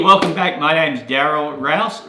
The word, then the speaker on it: Rouse: My name's Daryl Rouse, rhymes with house, and continuing on, how would you like to have a business that runs smoothly, efficiently, effectively, with balance?